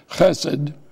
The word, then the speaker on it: chesed: It's chesed. Just two syllables, and sometimes you'll see it H-E-S-E-D mm-hmm. in English, and sometimes you'll see it C-H-E-S-E-D.